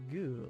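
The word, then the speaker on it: グ: the position shell yes goo you pronounce it says goo like in the word good yes or goo which is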